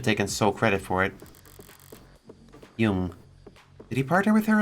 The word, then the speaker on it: Jung: I'm like 70% sure it's Jung. Jung? Jung? It's Jung, yeah.